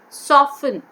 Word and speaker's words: soften: f t e n t is silent here we don't say soften do we say soften no soften is the word that we have to pronounce yes oh yeah t e